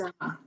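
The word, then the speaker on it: האדמה: That's a D sound in the middle.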